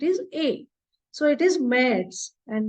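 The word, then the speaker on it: März: there are two dots above a it is pronounced as a and not a or a it is a so it is Ms and not marks in my other video called German alphabets I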